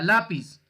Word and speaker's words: lápiz: Entonces, por ejemplo, acá tenemos la palabra lápiz, ¿cierto? Lápiz tiene 2 sílabas, lápiz, y tiene la tilde en la A, en la penúltima sílaba.